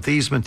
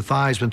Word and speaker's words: Theismann: But we think by just simply changing the pronunciation of your last name from Theismann to Theismann to rhyme with Theismann, we can get you that trophy."